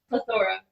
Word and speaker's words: plethora: Oh, it's not like heterogeneity. Mine is only 3 syllables. Plethora.